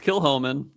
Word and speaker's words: Kilchoman: We're drinking Kilhomman and that's spelled like Kil Comman or Cho Kil Chomman if you're uh interesting. Um and but it's Kilhman and it's Lock Gorm 2021 variety.